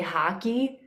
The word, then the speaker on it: hockey: fun of me that i'm saying hockey weird because they actually say haki yep from where i'm